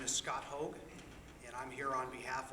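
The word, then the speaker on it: Haug: The first name is Scott, S-C-O-T, and the last name is H-A-U-G, pronounced Hogue.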